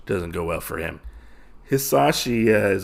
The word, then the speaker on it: Hisashi: I have to say, in this scenario, because Haishi is very much wrong in this situation. Very, very wrong, I feel like. So Hisashi, I don't know why I keep getting his name wrong.